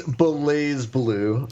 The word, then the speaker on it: BlazBlue: the fighting game BlazBlue, I might be mispronouncing that, might be Blaze Blue. I had a few great matches. Let's go with that one. Sorry, go ahead. I think it's Blaze Blue.